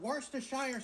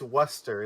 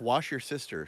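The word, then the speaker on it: Worcestershire: a little bit of worstire sauce. And he said it wrong. I must hate him forever. Wait, wait. I know this. It's Worcester, isn't it? No, it's Wash your sister sauce.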